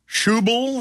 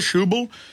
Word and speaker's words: Schäuble: money for too long qubool is how you pronounce it Wolfgang schäuble shoe boo in an interview with